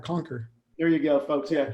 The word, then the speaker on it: CNQR: So yeah, CNQR. That's for marketing, man. CNQR, Conquer.